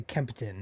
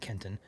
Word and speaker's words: Kempton: This is, or should I say Kempton, not Kenton, Kempton.